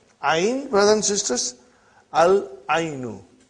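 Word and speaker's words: العين: Al-ainu. The eye. We pronounce lam.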